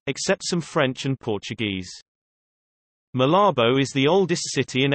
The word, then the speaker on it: Malabo: Malabo, Spanish pronunciation, Malabita o, formerly Santa Isabel, is the capital of Equatorial Guinea and the province of Bioko Norte.